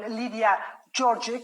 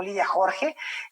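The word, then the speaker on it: Lídia Jorge: con esta autora, con Lidia Jorge o con Lidia Jorge, como sería la pronunciación más cercana al portugués, a su lengua original, pero bueno, en español la conocemos de muchos años como Lidia Jorge.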